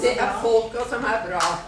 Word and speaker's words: Det är polka som är bra: But I believe it's pronounced det polka som bra. Was that anywhere close? She's going to correct me right now. Get the ruler out. Go ahead. Det är polka som Det är polka som är bra. That's the right way to say it.